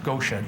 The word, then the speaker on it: Goetia: I didn't know how to pronounce it. It's GOETIA, G-O-E-T-I-A, a Latin word.